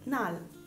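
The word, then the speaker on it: 날: Quindi solitamente all'inizio e alla fine di una parola sono pronunciate come L. Quindi per esempio abbiamo Lamyon, Lamyon, i ramen, oppure Nal, Nal, il giorno.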